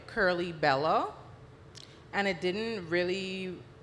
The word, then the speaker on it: Kurlee: good and then curly it's just the pronunciation of the word curly so it's K you are l ee instead of you know spelling it it's curly so I just